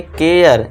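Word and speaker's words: care: तो इसे क्या पढ़ेंगे? करे नहीं पढ़ेंगे। इसे हम क्या पढ़ेंगे? केयर।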